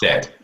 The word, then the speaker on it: Fyk: is it Fick? Fyke? Fyk. Yes, it's pronounced Fick.